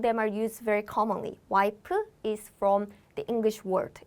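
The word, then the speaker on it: 와이프: in korean pronunciation is waipu why is also commonly used but have you noticed in korean we don't have f sound so we replace the f pronunciation with p sound so instead of wife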